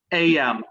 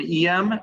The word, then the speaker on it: AM: The one thing I'll say in your first sentence, it's pronounced AM. So you said, I think you said 7 EM and it's AM.